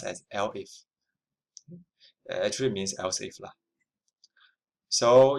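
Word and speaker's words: elif: This one is L if pronounced as L if actually means else if.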